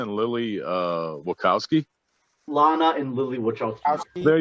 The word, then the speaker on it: Lana: and uh how do you say that is elena and lilly uh wachowski lana and lilly which i'll tell you there you